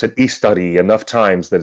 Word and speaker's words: Istari: I've heard Christopher Lee pronounce it Istari enough times that it's been stuck in my head.